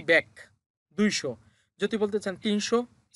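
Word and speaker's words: 백: উচ্চারণটা হবে ব্যাক। এটা হচ্ছে বিউপ, বিউপের ব সাথে হচ্ছে এ, তার মানে ব্যা, আর নিচে আছে গিয়ক, গিয়ক নিচে বসলে ক হয়। তাহলে এটা হবে কি? ব্যাক।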